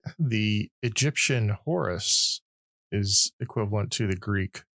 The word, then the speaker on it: Horus: The Egyptian Horus is equivalent to the Greek who? It's pronounced Horus.